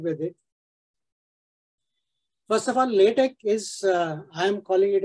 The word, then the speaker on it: LaTeX: it first of all latex is I am calling it as latex so normally it is pronounced as l-a-y Tech day this is l